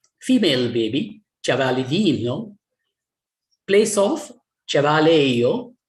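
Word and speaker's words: ĉevalejo: Place of, cavaleio. J is pronounced like a Y, as in German and Germanic languages, many.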